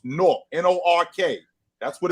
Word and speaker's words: Newark: It's pronounced Nork, N-O-R-K. That's what it's pronounced. N-O-R-K. That's for y'all that don't know. It's pronounced N-O-R-K. Nork. It's not Newark. It's Nork.